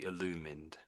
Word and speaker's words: illumined: So we looked at era illumined and the ed sound is slightly unusual here to say illumined.